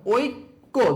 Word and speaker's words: ঐক্য: যেমন দেখো ঐক্য দুইবার উচ্চারণ হয়েছে কিনা, কয়ের উচ্চারণ দুইবার হয়েছে, দেখো।